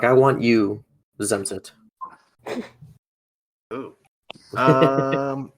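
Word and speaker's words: zemřít: Zemzit.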